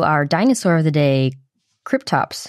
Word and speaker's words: Kryptops: dinosaur of the day tops i've also heard it pronounced creep tops that was a request